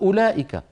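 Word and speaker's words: أولئك: ويجب ان تنطق الثاني حروف مكتوبه ولا تنطق مثل الواو اولئك اولئك على هدى من ربهم واولئك هم المفلحون ما فينا احد يقول اولائك على هدى من ربهم واولئك هذه الواو تكتب ولا تلفظ تلفظ تلفظ الامر الثالث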